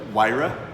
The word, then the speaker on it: Huayra: How do you pronounce it in English? Huayra?